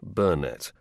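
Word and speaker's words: Burnett: He always preferred the stress on the first syllable of his name, Bernett, who used to say of himself that he was a stupid fellow who had been lucky.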